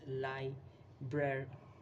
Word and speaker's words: library: included in it that people spell it as library, Liberry. That's how they pronounce it. But the correct pronunciation is library. That's how you pronounce library.